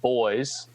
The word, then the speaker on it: Boise: the one in Idaho it's spelled like Boise but as I learned in the thread it is pronounced boys which is lame uh